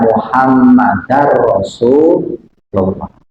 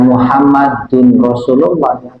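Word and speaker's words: مُحَمَّدًا رَسُولُ اللهِ: memasukkan bilunah tanpa menahan Jadi dibacanya muhammadar rasulullah jangan Muhammadun Rasul muhammadar rasulullah karena ada anak anak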